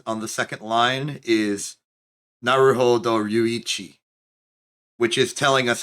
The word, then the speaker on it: Naruhodo: Oh, I now see that the thing in parentheses on the second line is Naruhodo Ryuichi, which is telling us how to pronounce his name.